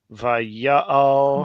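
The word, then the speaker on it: ויעל: It's just Vaya'al with two kametzes, right? Two patachs. That's what I meant. Vaya'al.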